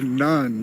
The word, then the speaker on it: Nan: Or I'm told I'm not saying it right. It's the Nan River, but it's N-A-N.